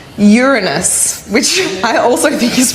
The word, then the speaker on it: Uranus: planetarium, and that is Uranus. But did you know it's actually pronounced Uranus, which I also think is pretty funny.